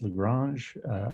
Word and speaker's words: Lagrange: Actually, it's pronounced Lagrange.